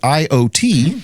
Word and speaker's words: IoT: The article is titled Intelligent Classrooms, How AI and IoT, pronounced IOT, can reshape learning spaces.